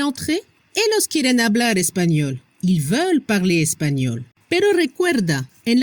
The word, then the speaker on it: ils veulent: La prononciación ils veulent, elles veulent. No se pronuncia la S y tampoco no se pronuncia ENT.